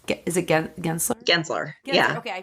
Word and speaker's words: Gensler: Gensler. Gensler. Okay, I pronounced it right.